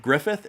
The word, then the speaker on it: Griffith: That's a very difficult last name to say. Griffith. See, even when you say it right, Griffith, it still sounds like you have a speech impediment.